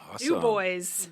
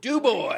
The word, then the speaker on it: Du Bois: Du Bois. Du Bois. I hate this pronunciation.